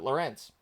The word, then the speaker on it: Laurence: minutes left Camp to Lawrence there's a near Miss there or Laurence depending on how you pronounce it his dad pronounces it Lawrence he pronounces it lorence no idea uh so